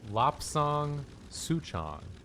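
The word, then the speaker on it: Lapsang souchong: Rooster Julia looked up the pronunciation and said it's pronounced Lopsong Suchong.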